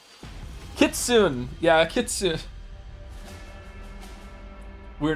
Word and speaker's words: Kitsune: Kitsune.